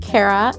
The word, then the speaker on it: Carrah: but not anytime recently my name is pronounced cara and i am a